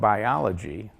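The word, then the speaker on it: Buyology: And his book called Biology, and that is spelled B-U-Y-O-L-O-G-Y, is a great read for not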